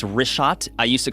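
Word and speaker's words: Richat: first couple I just want to say it's R shot I used to call it rick hot I was mispronouncing it but let me ask you this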